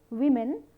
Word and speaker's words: women: Women, we are using the vowel O, but we are pronouncing it like E.